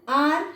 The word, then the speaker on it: hour: An hour has been completed.